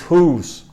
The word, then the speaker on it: who's: Who is, whose, the pronunciation of this is whose, y significa quién es, quién es. Y el otro, whose, en la pronunciación es exactamente igual, whose, es de quién.